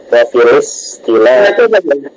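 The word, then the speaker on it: وفي الاصطلاح: Kalau hamzah wafilis langsung ada harakat kasrahnya dipindah ke lam. Wafilis istilah. Pindah gitu ya.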